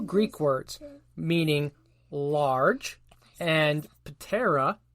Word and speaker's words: ptera: The name Megaloptera comes from 2 Greek words meaning large and ptera, or terra, not pronounce a P, meaning wings.